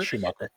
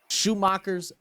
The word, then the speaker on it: Schumacher: I'm hoping I'm pronouncing that right. He is a German driver. Yeah, Schumacher.